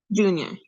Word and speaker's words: Dunoir: Junior, Say that again? junior. Junior, okay. Yeah, thank it's you. kind of like junior, but with a Like- D. Junior with a D.